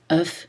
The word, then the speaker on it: œuf: Attention à la prononciation des mots œuf et bœuf qui changent au pluriel. Un œuf, un bœuf, on prononce le F, mais au pluriel, on ne le prononce plus. Des œufs, des bœufs.